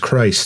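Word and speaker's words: Krites: the church cuz demanding Crites from people that are like no no it's pronounced Christ Christ not much help uh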